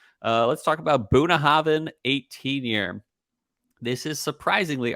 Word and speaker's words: Bunnahabhain: so first of all Buddha Haven doesn't have a v in it uh but in Gaelic stuff it's Buna Haven yeah yeah in Gaelic BH is pronounced V uh now you